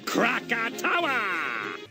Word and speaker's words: Krakatoa: And here we have the first enemy for the part, the Krakata, how do you pronounce that? Krakatoa!